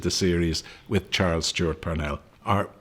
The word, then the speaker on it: Parnell: So thankfully we completed the series with Charles Stewart Parnell are Parnell is the correct pronunciation but nobody says Parnell Street.